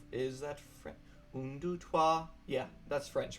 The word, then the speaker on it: trois: Un, deux, trois. Yeah, that's French, right? Un, deux, trois, sept, sept, huit, neuf. Trois. I pronounced it Troy.